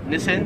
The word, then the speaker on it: Nissan: company right here so we would pronounce this in america as nissan however here in australia it is pronounced nissin number 12 missing listen i